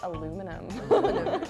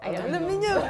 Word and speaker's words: aluminium: And you guys say aluminum. Yours sounds like a spell. Like, but, aluminium.